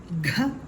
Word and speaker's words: ഘ: ഘ, ഗായുടെ കൂടെ ഒരു ഹായുടെ ശബ്ദം കൂടെ ഉച്ചരിച്ചു കൊണ്ടാവണം ഈ ഒരു അക്ഷരം പറയേണ്ടത്.